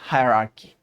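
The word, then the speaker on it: hierarchy: तो इसको पढ़ते हैं हायरार्की।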